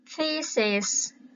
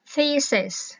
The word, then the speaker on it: thesis: ha, phát âm là thesis. Thi các bạn, cái chữ tơ vơ hơ đó, các bạn đưa cái đầu lưỡi ra giữa hai hàm răng ấy các bạn ha.